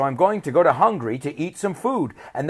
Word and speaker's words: Hungary: no I'm just joking hungry the country it sounds exactly the same hungry right I'm hungry so I'm going to go to Hungary to eat some food